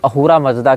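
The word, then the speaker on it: Ahura Mazda: अब ये स को ह पढ़ते हैं। फारसी सकार का उच्चारण हकार के रूप में करते हैं। इसीलिए अहूरा को आप असुर भी कह सकते हैं।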